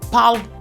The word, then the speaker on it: palliative: People say palliative. Palliative. That is a wrong pronunciation. So let's get it correctly. Palliative. Palliative. Pal-i-a-tive. Pal-i-a-tive. Palliative. Palliative. In GA, that is General American pronunciation, we pronounce as palliative.